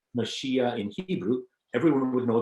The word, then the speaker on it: Mashiach: Now it's more like Mashiach in Hebrew. So when we say Messiah, we're just badly pronouncing our Hebrew.